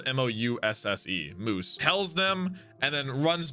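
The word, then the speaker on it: Mousse: each other whole lives until uh Calgary's daughter it's spelled m-o-u-s-s-e moose tells them and then runs back and and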